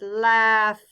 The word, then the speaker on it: laugh: with the letter H this word rhymes with half hm H what word am I thinking of that's right it's laugh laugh okay I'm thinking of